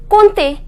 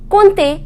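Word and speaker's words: compter: pronunciation with neither pronounce em nor P the pronunciation is Ponte Ponte Colt a means to count next is this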